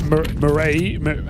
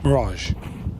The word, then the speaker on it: Mirage: You're on Mirage or sorry, that's Marray. How do I say it wrong? Mirage. Mirage. It's the G.